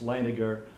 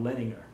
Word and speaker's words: Leininger: is spelled le I n I ng er pronounced Lana ger not lettin her was the letters permission I'll use the short